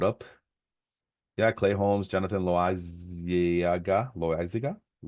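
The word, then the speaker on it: Loáisiga: Yeah, Clay Holmes, Jonathan Loaiziga. I don't want to say Loaiza because that sounds like Esteban Loaiza. I think I've heard that pronunciation.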